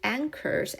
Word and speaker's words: anchor: From things 이런 물건들 like 예를 들면 ship anchors and hungry sharks. 핵 anchor이라고 읽어요.